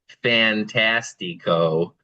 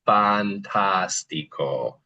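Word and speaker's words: fantástico: We would probably be tempted to say, for instance, fantastico, but it's always going to make a ah sound, the a, so it's fantastico, right?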